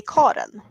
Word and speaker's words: Karen: I actually have a relative that is named Karen, but in Sweden we say Karen. So it's a totally different pronunciation, and I don't get the same vibes saying Karen than Karen.